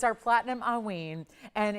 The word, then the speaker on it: haüyne: This is going to be Haüyne. This is how you say that, pronounce the stone's name, but it's actually named after a kind of an old term.